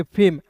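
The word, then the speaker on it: fame: तो बस यहां पे ए का उच्चारण एक एक के रूप में करना है। तो एफ ए एम ई को पढ़ेंगे फेम।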